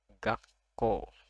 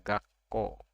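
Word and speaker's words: 学校: Jadi ini kalau ada tanda ini su-nya kecil, lebih kecil dari huruf yang lainnya, itu artinya setelahnya itu konsonannya lengkap. Yang ini ko, jadi dibaca gakko.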